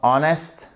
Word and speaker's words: honest: La plus importante étant honest, d'accord ? Honor, air, vous ne prononcez pas le H.